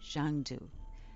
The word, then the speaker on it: Xanadu: The most remarkable of all, though, was Xanadu, pronounced Zhangdu, the palace of the great Khan.